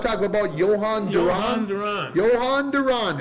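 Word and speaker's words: Jhoan Duran: Johan Duran. Johan Duran. It's easy to remember if you It remember is. that it rhymes.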